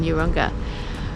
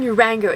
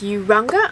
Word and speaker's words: Urunga: I keep saying Uranga, it's Urunga. I'm not even sure if that's how you pronounce it, but apologies if I've got that wrong.